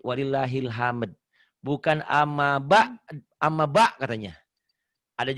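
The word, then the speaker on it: ولله الحمد: Bukan walillahil ham, tapi walillahil hamd.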